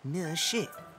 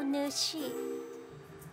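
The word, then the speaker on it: Nǐ hǎo, nǚshì: Ni hao, ne shi. That's still not it, is it? That was almost it. Your hello was perfect, but remember, the last syllable of miss has a falling tone.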